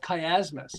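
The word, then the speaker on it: chiasmus: of them is called Kay asmus CH a mu okay kay asmus and it's really fascinating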